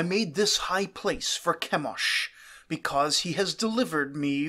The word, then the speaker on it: Chemosh: various levels of reliability, to Chemosh, to make it rhyme with Beosh, a word meaning stench.